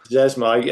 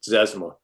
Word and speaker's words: Zezima: Zezima. I couldn't pronounce it till I was in high school, but yes, Zezima.